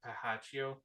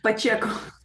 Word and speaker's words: Pacheco: I'm gonna get her name wrong. Pahaccio. Um, Pacheco. I, Pacheco.